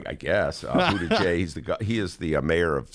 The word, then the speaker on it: Buttigieg: First of all, I give you credit for knowing how to pronounce the name. Did I do that right? I guess. Buttigieg, he is the mayor of South Bend, Indiana.